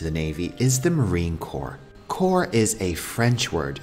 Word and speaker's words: corps: navy is the marine corps core is a french word so we do not pronounce the p or the s here the marine corps is amphibious meaning it